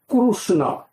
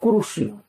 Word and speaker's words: Krishna: that here was krishna but in puri they pronounce it not krishna kusuna sometimes krsna's sometimes especially in south they tell krishna or kurushima and then in more